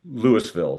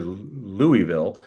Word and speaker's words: Louisville: You could always tell when it's out of state during the traffic reports when they mispronounce Lewisville. Say, "Well, there's a pileup up on US 36 near Louisville."